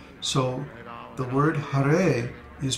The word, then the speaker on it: Hare: For example, Ha in Hare is a short syllable, but the Re is a long syllable because the vowel is A. So the word Hare is pronounced Hare.